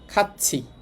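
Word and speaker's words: 같이: নে হ্যাঁ খাচ্ছি, এটা আপনাদের সম্ভবত বলছি, থিয়তের পরেই থাকলে থিয়তের উচ্চারণ চয়সা হবে।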